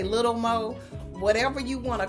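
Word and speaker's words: Lil' Mo: to Lil Mo now it's pronounced Lil Mo but I always say little mo whatever you want to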